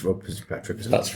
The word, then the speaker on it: Rob Fitzpatrick: It's Rob Fitzpatrick, isn't it?